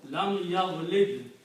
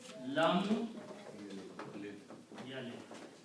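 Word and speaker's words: لم يلد: They said, well, there is a vav there. And vav is a weak letter here. Okay? Let's drop this. Let's not pronounce this thing. Okay? So when you don't pronounce, what is left? Lam yalid.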